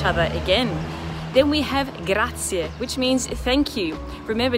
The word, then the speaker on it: grazie: we see each other again then we have grazia which means thank you remember to pronounce the ie ending at the end it's grazier then we have musculusi or permesto both of